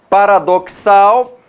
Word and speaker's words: paradoxal: Paradoxal, o X tem som de CS, né? Vamos escrever aqui. Paradoxal, ok? Então o X vale, na verdade, 2 fonemas, né?